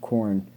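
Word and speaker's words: Khoorne: attacked again by the crusaders of corn which is spelled k-h-o-o-r-n-e um which would evolve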